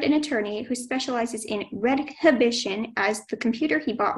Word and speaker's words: redhibition: The sentence is, Patrick hired an attorney who specializes in redhibition as the computer he bought recently doesn't work well. Could you please repeat the pronunciation?